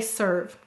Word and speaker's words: serve: go ahead and say serve excellent let's sound it out s use the r of her V okay what will we need at the end silent final e you're right all right